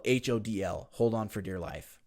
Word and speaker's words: HODL: So a lot of people pronounce this differently, but HODL or hold, HODL.